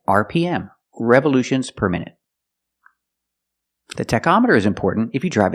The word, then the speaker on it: tachometer: With the word tachometer, the CH makes a k sound. K, tachometer.